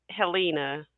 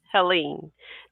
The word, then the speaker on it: Helene: And this episode probably will seem like deja vu to you all, but last week, due to the Hurricane Helena, am I saying it right? Helene.